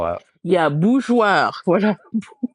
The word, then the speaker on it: bourgeois: So if we break down what's happening, we have two syllables. The BOU, I think we're okay with. That's Mhm. boo. Now the Mhm. GEOIR. So the E is not pronounced. The E is Mhm. not pronounced. It is there really to keep our soft G sound.